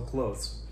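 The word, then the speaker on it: clothes: the same way um just soften the th maybe turn it into something more like a zed or an S so close okay clothing of course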